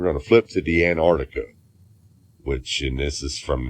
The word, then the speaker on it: Antarctica: well let's go to the other one first Antarctica is the correct pronunciation there's two hard seas in there but